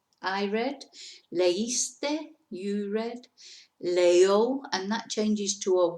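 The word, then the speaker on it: leyó: read, leíste, you read, leo, and that changes to a Y. When we make the third person in the preterite, it's L-E-Y-O with an accent on the O.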